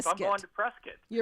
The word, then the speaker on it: Prescott: You'll get booed if you say Prescott. Well, what is it then? Prescuit. Prescuit. Okay. Prescuit. Like biscuit. I'm going to Prescuit.